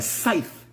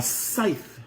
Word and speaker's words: scythe: religions and mythologies the Grim Reaper weapon a scythe a scythe how do you s c y t h